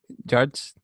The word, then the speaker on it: JYDGE: Judge. JYDGE. So it's judge, but like it's being cute with like the Y. Maybe could be read as a U, because like the top